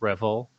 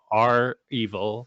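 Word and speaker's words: REvil: and by the way some people pronounce it revel i pronounce it they are they are evil so that's what i'm gonna call them uh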